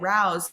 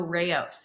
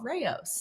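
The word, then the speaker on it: Rao's: check out restaurant yeah everybody calls it Rouse so that's why they don't know Ros most everybody's like oh the sauce Rouse because that's what it looks like that's how it's spelled but it's actually called Ros so if you've seen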